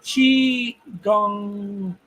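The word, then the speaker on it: qigong: It said qi gong, like the percussion instrument gong.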